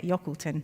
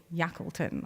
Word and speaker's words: Yockleton: So you can see that here we've got a little sample from, I always say it wrong, I say it Yockleton, but it's Yackleton, I believe.